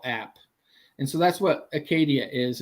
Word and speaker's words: Akkadia: And the pronunciation is correct? AKKADIA? Yeah, AKKADIA.